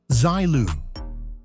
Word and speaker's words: Seele: Introducing Seele, and it's pronounced Zilu.